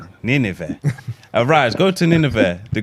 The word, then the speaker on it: Nineveh: Nineveh. You're saying it right. Nineveh.